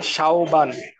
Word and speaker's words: শাওবান: আমার নাম হচ্ছে শাওবান। এ শাওবান। তালবস্য আকার ও ব আকার দন্ত ন।